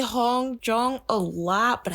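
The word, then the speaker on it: Hongjoong: can't even pronounce now Hong Jung it's the double O that gets me so you're going to hear me say Hong jong a lot but I think it's pronounced Hong Jung I am so sorry I'm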